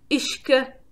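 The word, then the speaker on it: uisge: internet friend that's gonna tell us how to pronounce it so whisky started out as the gaelic word ishka aha yeah let's hear it again ish good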